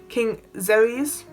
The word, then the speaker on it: Xerxes: king's palace, and the king, I can never pronounce his name, King Xerxes, X-E-R-E-S is how you spell it.